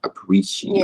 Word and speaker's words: appreciate: say it, I say appreciate. Yeah. Yeah. There's the CI kind of sound like SH, appreciate.